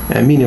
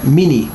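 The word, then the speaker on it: Minnie: وأيضا اسمها نفسه، اسمها أيضا فيه رمزية، يعني هي اسمها ميني، ميني M-I-N-N-I-E، ميني M-I-N-N-I-E. ويعني كما تلاحظون النطق ميني، معنى كأنه M-I-N-I، ميني، ميني بمعنى قليل، M-I-N-I يعني قليل، إنما هي اسمها M-I-N-N-I-E، نفس النطق.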